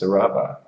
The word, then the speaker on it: Saraba: Probably, Tian Greenhouse Run and Sarah and Saraba, but everyone calls it Sarah. Yeah, it's actually pronounced Saraba.